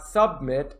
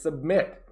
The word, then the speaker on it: submit: to know is submit notice my pronunciation it is not submit it is submit this is to hand